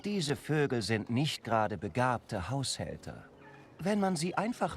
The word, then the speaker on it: begabt: Nun, diese Vögel sind nicht gerade begabte Haushälter. So, begabt is gifted or talented. Make sure to open your mouth whenever you say begabt and stretch it a little bit.